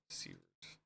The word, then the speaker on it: Sievert: Sievert. Yeah, Sievert. Yeah, apparently that's how it's spelled.